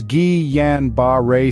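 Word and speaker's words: Guillain-Barré: Series today we're tackling a fascinating neurological mystery Gillan barar syndrome often pronounced as G Yan B syndrome this is a rare autoimmune disorder that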